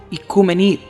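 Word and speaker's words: οἰκουμένη: desde los grandes cismas del griego antiguo oikumenem, aunque se pronuncia en griego moderno, ikumenid, tierra habitada.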